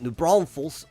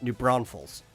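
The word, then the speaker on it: New Braunfels: just this area right it's not new Brown FS right new Browns like you would in German it's newbron Falls it's just a like an o sound a newbron Falls oh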